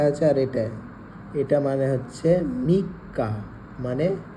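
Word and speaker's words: みっか: মিক্কাটা বুঝলাম না। মিক্কা, এই যে মি ছোট সু যদি থাকে তাহলে পরেরটা ডবল উচ্চারণ হচ্ছে, তাহলে মিক্কা।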